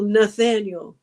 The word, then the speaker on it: Nathaniel: She didn't say the next one I have up because it's Archangel Nathaniel." rhymes with Daniel.